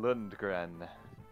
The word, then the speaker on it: Lundgren: Lundgren.